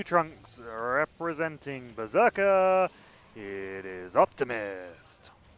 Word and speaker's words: OpTiMiStC: But Optimist is uh I think his preferred pronunciation, but he accepts optimistic.